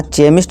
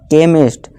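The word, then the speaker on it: chemist: है का लगेगा यहां चे मिस्ट नहीं पढ़ेंगे ठीक है दोस्तों यहां चेम नहीं केमिस्ट मशीन मचान नहीं दोस्तों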